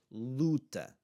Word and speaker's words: luta: Luta is the word for like a battle or a fight. Luta. Luta. Okay? Luta. Ooh. Ooh. That's the sound.